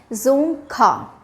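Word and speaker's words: Dzongkha: यहां पे आप देखिएगा डी साइलेंट है यहां पे हमने जो प्रोनंसिएशन किया है वो जड से किया है तो उसका प्रोनंसिएशन कैसा है जोंग खा ठीक जोंग खा देन प्राइम मिनिस्टर यहां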